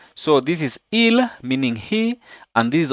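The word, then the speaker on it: ils: In terms of pronunciation, there's no difference between the singular and the plural. So this is il, meaning he, and this is also il, meaning they, who are male.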